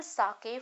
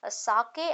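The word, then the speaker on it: sake: सा is pronounced like फा इन father, and के इज राइमिंग विद वे।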